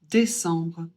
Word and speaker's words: décembre: Faut commencez à avoir l'habitude, ça fait en et on prononce le B. Donc on dit décembre.